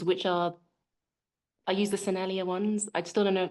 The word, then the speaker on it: Sennelier: And yeah, so I suddenly used um, and so I suddenly used, yeah, these soft pastels, which are, I use the Sennelier ones.